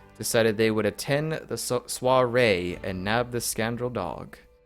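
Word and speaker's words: soirée: I want to know how to pronounce this word. I think it's soiree. Soiree.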